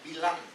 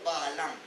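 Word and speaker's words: Balaam: and this prophet was Bilam, or Baalam. Also the term Bilam, that is the pronunciation in Hebrew, and has come to us as Baalam, the transliteration.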